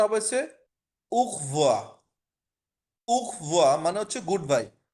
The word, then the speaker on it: au revoir: উখ, এ ইউ এর উচ্চারণটা হচ্ছে উ, আর আরটাকে সরাসরি ধরে নিতেছে, মানে একসাথে উচ্চারণ করতেছে উখ ভোয়া। ভি ভে ও ই এক, মানে উখভোয়া, লাস্টে আর এর উচ্চারণটা হবে না।